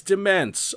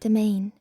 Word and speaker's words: Demesne: of these maps: "Baphomet's De-mence" I don't know what that word is. Don't @ me. TTS: Demesne. (Pronounced like "Domain") CIVVIE: Oh, fu- "Sheol" "Cages